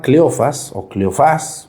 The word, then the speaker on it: Cleofás: Uno se llama Cleofás, con acento en la A.